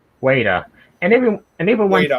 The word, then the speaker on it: Weta: floor of the rings it's pronounced waiter waiter and everyone and they